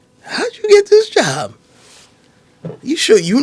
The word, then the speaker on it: Jean: probably don't know that the name is pronounced J you may not know